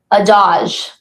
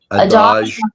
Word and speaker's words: Adage: Adage? Adage. Adage Dance Academy.